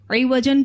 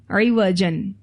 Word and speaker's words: عوج: سے ہی نظر آئے۔ اسپیلنگ آپ دیکھیے تو عین کے نیچے زیر ہے۔ عوج ایسے ٹیڑھپن کو کہتے ہیں جو بصیرت سے ہی نظر آئے۔ عوج کہتے ہیں عین کے اوپر زبر، ایسا نقص جو ظاہری آنکھوں